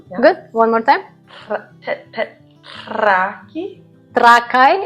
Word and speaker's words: Trakai: Trakai. It's trakai. Trakity. Trakai. Trakai. Trakai. We put accent on the beginning.